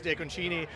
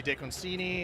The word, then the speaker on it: DeConcini: If you're in Italy, it's DeConcini. If you're in Arizona, it can be DeConcini. If you're close to the border, if you're in Phoenix, DiConcini.